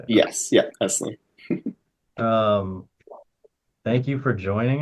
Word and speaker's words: Eslliey: Yes, yeah, Eslliey.